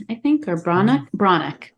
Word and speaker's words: Breathnach: I always come back to it, and it is by Sarah Ban Breathnach, I think, or Mhm. Branach, I think is how you say it.